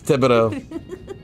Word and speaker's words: Thibodeau: No, no one says that. Everyone says Thibodeau. Ah, see? Look, that Cajun coming out, huh? Hey. It's Thibodeau.